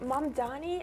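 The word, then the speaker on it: Mamdani: Mom Donnie, is that how you pronounce it?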